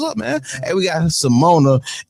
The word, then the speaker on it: Cimona: She didn't check me, but she did check me straight on how it's pronounced. It's C I'm on a M Chase.